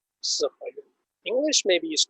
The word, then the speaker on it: Siheyuan: So in Chinese, we pronounce Siheyuan.